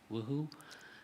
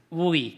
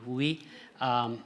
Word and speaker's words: WUI: and being in the, if I pronounce it correctly, WUHU. WUI, thank you, WUI.